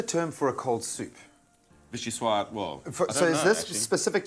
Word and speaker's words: vichyssoise: can still create something delicious and iconic, a vichyssoise. It's a chilled soup, yes? You pronounce it perfectly.